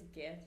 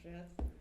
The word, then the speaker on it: Gith: So they Actually, it's Gith, not Jith.